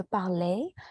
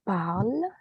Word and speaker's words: parle: La finale n'est pas prononcée. Donc, ce n'est pas je parlais, c'est je parle.